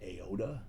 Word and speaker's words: AODA: I have an acronym for him, AODA, pronounced AODA, not to be confused with Yoda, YODA, who's that lovable little creature who's really intelligent in the Star Wars movies.